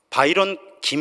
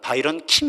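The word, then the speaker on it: Byron Kim: 분 계세요 그중에 아 바이런 김 이라고 하는 바이런 킴 이 라고 발음해야 되겠죠 바이런 킴 이라고 하는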